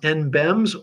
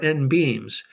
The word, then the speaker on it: NBEMS: For emergency communications, there is an alternative to WinLink, and I've heard this pronounced NBEMS or NBEAMS.